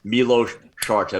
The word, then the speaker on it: Milos Sarcev: fan message me, and he gave me the full pronunciation guide. I mean, pretty much the full etymology of your name. So now I can't get it wrong. Milos Sarcev.